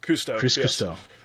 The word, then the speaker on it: Cousteau: Kusto, am I saying it right? Custo Kuster.